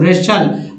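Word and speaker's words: wrestle: उच्चारण नहीं होता, तो रेचल। वैसे भी टी का उच्चारण इसमें भी नहीं हो रहा, तो रेचल मीन्स कुश्ती करना।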